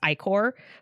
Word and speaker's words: ichor: I know it's ichor, but like it just seems like so much more to pronounce. It's like Ike more. And ichor just rolls off the tongue.